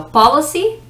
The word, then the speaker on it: policy: police and policy police so policy the emphasis the stress of the syllable is the first the first syllable is